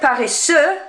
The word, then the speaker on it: paresseux: Instead of paresseux, where you don't pronounce the X, it is now pronounced paresseuse, and curieux changes to curieuse for the feminine.